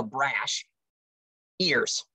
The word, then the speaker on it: Brashears: and looked about it it is spelled b-r-a-s-h so brash ears e-a-r-s brash ears that's her that is